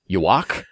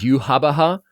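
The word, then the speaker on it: Yhwach: big bad of Bleach is spelled out Y-W-A-C-H, Yuak, but it's pronounced Yuhabaha.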